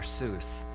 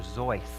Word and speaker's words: Seuss: pronounce his name Dr Seuss but he always pronounced ounc his name Dr zoy because he said it rhymed with voice and he wanted to